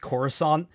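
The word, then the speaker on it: Coruscant: you know Wars fan it is pronounced corusant but now I kind of want to pronounce it incorrectly as we go along and just like it like croissant well you have to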